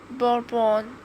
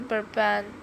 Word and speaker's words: bourbon: You know, it's often pronounced bourbon, but actually it's a softer burban.